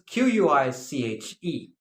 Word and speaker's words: quiche: This is Quiche. Quiche, and it is pronounced quiche.